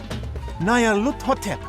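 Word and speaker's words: Nyarlathotep: This phrase is pronounced Nayarhut, or more likely, Luthotep. Nayarluthotep, that's it!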